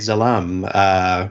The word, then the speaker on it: Zalam: Zalapsky, the great Zalam. How do we still can't remember how to pronounce that one. It's the I always pronounce it Zalam because it's Zalam. Like my last name is Zalapsky, so Zalam.